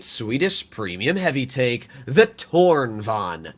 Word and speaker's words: Tornvagn: premium heavy take the torn Von not the torn vagin the torn Von there's a lot of people that try to pronounce the cron Von as cron vagen and it irritates me so so much there's so many people